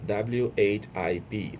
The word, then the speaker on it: whip: You pronounce it like whip, rhymes with sip with a short I sound.